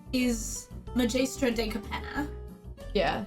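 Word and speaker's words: Magaestra: right now but her her name name is majistra deapen yeah pronounced nicer how do you want me to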